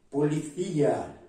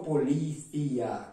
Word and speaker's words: policía: Policía. La pronuncia más fuerte en FIA, no policía, como se dice en Brasil, más fuerte en FIA, policía.